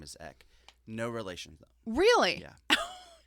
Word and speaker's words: Eck: It's missing an H on the beginning of it.